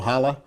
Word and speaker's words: challah: Oh, challah. Oh, challah, that's how you Challah say it. bread, I never can remember how to say that. I have Jewish friends, so they've okay, educated me. Challah, It's delicious.